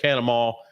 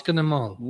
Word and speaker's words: Catamount: And so we say it Canamall. He says, no, Catamount. No, it's Catamount. Okay. All right. You pronounce it correctly.